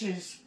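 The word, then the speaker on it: gnashes: teeth nashed oh Nash nashes nashes his teeth then where's the G the g is silent oh the G my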